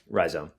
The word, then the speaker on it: Rhizome: Uh I don't know if you do you pronounce it Ryome or Ryzome. Ryome. Yeah, Ryome. That's what I figured.